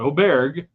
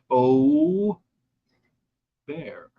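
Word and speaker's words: Åberg: me and call you're fight on how to pronounce it it's Oar Oar not oer o bear not AAR Oar uh so he finishes T5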